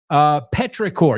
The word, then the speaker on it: petrichor: Petrichor, yeah, en inglés, o sea, la misma palabra, pero es chor, pero no se pronuncia como chor, se pronuncia exactamente igual.